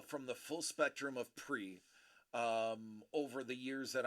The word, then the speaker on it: Prix: pre is is lower and pre it's spelled p r iix i will let you phonetically say that out loud we go with pre just like the Grand Prix uh KP we need